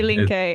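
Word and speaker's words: Linke: that Resurgence um the the party can you pronounce it for me is it delink dink yes exactly dink which translates the left the left the left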